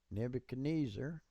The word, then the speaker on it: Nebuchadnezzar: a Shabbat here, and it's pronounced, so it's Nebuchad. This Shabbat follows a short vowel, so it's not pronounced. Netz, tz, because of the doggish, ar. And the r's are usually rolled, so it'd be tzar.